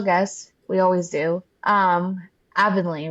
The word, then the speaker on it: Avonley: Um Aanly, right? I said it right. Yep. We have Aanley.